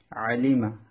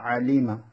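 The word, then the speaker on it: عَلِمَ: আইন জবর আ, লাম জেল্লি, মিম জবর মা, আলিমা, আলিমা। আইন কণ্ঠ মাঝখান থেকে উচ্চারণ করবেন, আলিমা, আলিমা।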